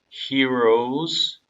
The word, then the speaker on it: heroes: 그래서 children who became the heroes and 여기는 R 글자가 있기 때문에 여기는 확실하게 발음을 굴려주셔야 돼요. 한국어로 이 단어를 쓰게 되면은 히어로라고 하는데 그 발음이 아닙니다. 이거는 heroes 음절이 두 개예요.